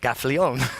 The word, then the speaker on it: Gaffalione: Well, Gaffalione.